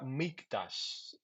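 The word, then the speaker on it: מקדש: La palabra mictash se pronuncia mctash es la palabra que significa lugar sagrado o templo en el Antiguo Testamento.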